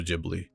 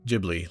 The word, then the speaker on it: Ghibli: So the word in Arabic is actually pronounced Ghibli with a hard G. But when the word was written out in Japanese for the studio name, the katakana character that would coincide with the G ended up being the character G, making it sound like a soft G.